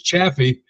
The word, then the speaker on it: Chaffee: mean that sounds French it's chaffy is how I've always pronounced it chaffy but you know what most people say cha chaffy and I just if as long as you call me for dinner I'm coming doesn't matter what you call me but it's chaffy chaffy all right you know